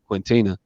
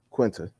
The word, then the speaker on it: Quinta: jimmy kimmel owes uh quentina that's her name quinta that's how you say it oh i don't